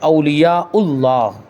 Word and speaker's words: اولیاء اللہ: ہے، چل جائے گا، لیکن صحیح جو تلفظ ہے وہ کیا ہے؟ اولیاء اللہ، اللہ کے ولی۔ تو وہی اللہ کے